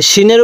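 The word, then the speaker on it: سين: নোক্তা বলা হয় তাহলে সিন সিনের আওয়াজটা একটু চিকন করে শক্ত করে উচ্চারণ করব সিন এরপরে সিন এই সিনের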